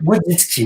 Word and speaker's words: Wojcicki: Patrick Wunzicki, si je me prononce bien. Patrick Wojcicki, voilà.